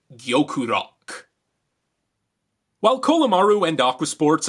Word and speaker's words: Gyokurock: locked on target now in japanese l's and rs are often confused and they're pronounced somewhere in the middle therefore it's gyokurok while kolomaru and aqua